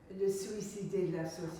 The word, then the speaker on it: le suicidé de la société: gosh, pardon my French, would you like to pronounce Le Suicide de la Société? He was suicided by society. Le Suicide de la Société.